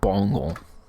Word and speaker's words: Bengal: Apparently it's called Bongol. I always feel weird when I say Bengal, so I'm going to say Bongol. Which also feels weird. But apparently that's how you say it.